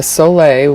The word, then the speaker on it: sole: use when i'm balancing my electrolytes and a soleil which is spelled s-o-l-e it's basically it's just a fully